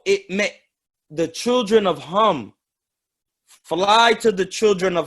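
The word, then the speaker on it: Khem: may the children of hum fly to the children of hum abraham the children of ham due at home is spelled k h e m not h-a-m it's spelled k-h-e-m hum hum exactly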